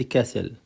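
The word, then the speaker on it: castle: او ما عدا ساند كاسل ساند كاسل قلعه رمليه وكلمه كاسل التي سايلنت لا تنطق سن سكرين سكرين سكرين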